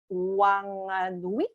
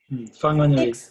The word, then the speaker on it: Whanganui: For a country to grant the same human legal rights to the third largest river in the world Wanganui, did I say it right? Whanganui.